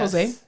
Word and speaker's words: Hosea: also like he just cannot stand the way his name is spelled Hosea yeah Jose h-o-s-e-a why oh you think